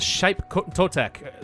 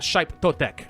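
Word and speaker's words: Xipe Totec: In this case, a shrine to, I think that's Shaip Totek, something like that. The X is pronounced a little bit differently.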